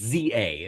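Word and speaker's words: Z-A: It's ZA is apparently how it's said.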